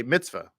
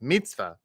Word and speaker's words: mitzvah: or in the South, we'd say mitzvah. It's a mitzvah. It's a mitzvah to do that. And by the way, there's nothing wrong with that pronunciation. However, if you're speaking to an Israeli, it's going to sound more like mitzvah.